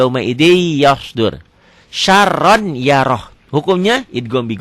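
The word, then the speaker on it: يَوْمَئِذٍ يَصْدُرُ: Tulisnya yauma idzin, dibacanya jadi yauma idzi yasdur.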